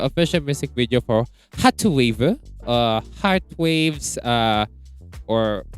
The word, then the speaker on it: hrtz.wav: music video for hrtwav, Heartwaves, or because it is spelled as hertz, HRTZ, like hertz, like the frequency, of course. But in Korean, it is pronounced as hrtwav, so it's Heartwave 19.